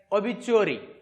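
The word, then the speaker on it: obituary: त्याला शब्द आहे आपल्याकडे ऑबचुअरी pronunciation is like ऑबचुअरी ओ बी आय टी आर वायरी नेक्स्ट वर्ड नो लगर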